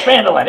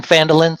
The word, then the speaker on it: Phandelver: Except the P is silent in Phandelver, so it's we're host.